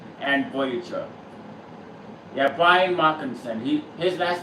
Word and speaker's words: Markinson: field of voices being played by Brian Mark Mockinson who's played multiple Starship characters on the Next Generation Deep Space 9 and Voyager. Yeah, Brian Markinson.